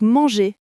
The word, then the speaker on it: manger: Accent sur la dernière syllabe. Manger. Mais attention, le hervinal est très léger en français. Oui, on dit pas manger en roulant le R. C'est doux manger.